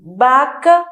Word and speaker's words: vaca: Em português nós falamos vaca. Então, vaca, que tem som de B.